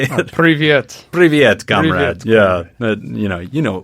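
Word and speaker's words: привет: Privyet.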